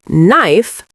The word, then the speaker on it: knife: For example, in the word knife, the K is silent, and in the word hour, the H is silent, which can be confusing for beginners.